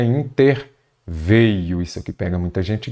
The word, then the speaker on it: interveio: ele veio se é ele veio é ele interveio Muita gente fala interviu paralização é com s